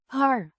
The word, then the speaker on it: haar: Pronounced. Haar. Similar to the R in car, but shorter.